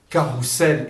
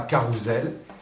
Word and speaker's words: carrousel: Normalement, entre deux voyelles, nous mettons 2 S pour dire sel et pas zel. Et bien là, on prononce carrousel et non pas carousel.